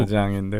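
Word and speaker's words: 大疆: 그래서 저 요즘 중국 다장인데 우리로 하면 다 강인가 그렇죠? 강. 뭐 그냥 저기 신문 기사에는 보통 다장이라고 붙여주거든요. 중국식 발음을 하는 거죠.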